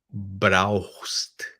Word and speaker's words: brauchst: Você precisa, du brauchst. A pronúncia, né, eu vou falar bem lenta aqui, du brauchst. Brauchst. Du brauchst. Esse CH tem som de R também, du brauchst.